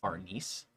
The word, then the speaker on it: Farnese: It's not called that. It's pronounced Farnese. Farnese.